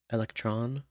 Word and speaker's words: electron: or molecules, I think electron, electron, electron. These Greek roots never have the emphasis on the last syllable. It's always on the penultimate or previous one.